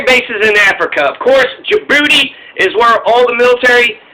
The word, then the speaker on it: Djibouti: tiny country and it's Djibouti it starts with the D but the D is silent like in Django but Djibouti I mean is this